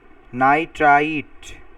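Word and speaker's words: nitrite: যেখানে অক্সিজেনের সংখ্যা কম সেটা শেষে ইট উচ্চারণ হবে। নাইট্রাইট।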